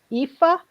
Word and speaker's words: Aoife: And what I don't want is in Mannion, who I still can't pronounce her first name, Aoife. has been Aoife.